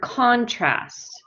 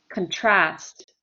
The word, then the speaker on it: contrast: the word um contrast oh that would be the verb if i have the word contrast contrast that's the noun so we put the stress on the first syllable okay if i have the verb contrast contrast is a verb and i put the stress on the second syllable okay is everybody clear